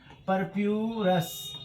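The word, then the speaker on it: purpureus: Monascus परपोरस से। ये कहां कहां से ऑब्टेन किया जाता है? मोनोस्कस मोनस्कस परपोरस। ठीक है? इसका नाम भी परप्यूरस। ऐसे इसका नाम है आप लोग एनसीआरटी में देख लीजिएगा स्पेलिंग इसका मोनोस्कस परपोरस से इसको तैयार किया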